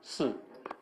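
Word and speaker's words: 四: Suh? You said right? Yeah, it's a death. Suh? Is that how you say it? Am I even close? Su. Si. S-I. Si. That's what we pronounce before.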